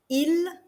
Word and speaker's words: ils: of il, elle, and il, elle. They are pronounced exactly the same. The S here is mute. You do not pronounce the S.